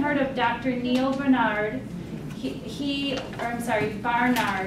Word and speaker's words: Barnard: Barnard is how you pronounce his name.